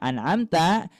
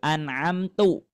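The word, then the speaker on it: أَنْعَمْتَ: Yang ketiga, mengubah harakat yang harusnya an'amta kita membacanya menjadi an'amtu. Nah, maka itu menjadi kesalahan yang besar.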